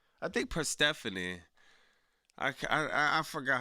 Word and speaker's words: Persephone: You said it right. Oh, all right. Yo, what's up, Jordan? What's poppin'? It's Persephone. Yeah, Persephone. Yes. I heard Tony Schiavone said it. Tony Schiavone said it like 100 times.